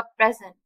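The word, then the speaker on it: present: और जब पी के ऊपर स्ट्रेस पड़ेगा तो कैसा वो प्रोनाउंस होगा? प्रेजेंट।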